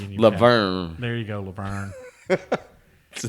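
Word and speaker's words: La Vergne: No, Laverne. Laverne, is that what you say? Laverne, that's how it's pronounced.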